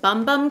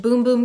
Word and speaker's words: Bum Bum: is from Soul de Janero it's the Brazilian bum bum cream apparently it's pronounced boom boom cream I like to call it the butt